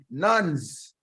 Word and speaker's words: NANS: And we are joined by comrades from NANS, the National Association of Nigeria Students. Did I say it correctly?